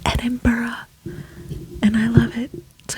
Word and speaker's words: Edinburgh: out in the open right now it is pronounced Edinburgh I've heard it's like nails on a chalkboard when you know pronunciation of like Edinburgh I can guarantee you it's not Edinburgh it's Edinburgh and I love it so you must go